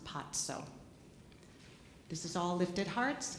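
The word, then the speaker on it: paco: P-A-C-O is pronounced patso.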